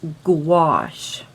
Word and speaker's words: gouache: how to say it just think of the word squash and it rhymes with that so it's gouache that's the best way